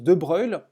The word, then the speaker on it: de Broglie: Alors De Broglie, en réalité, ça se prononce De Broglie, et donc le nom complet c'est De Broglie.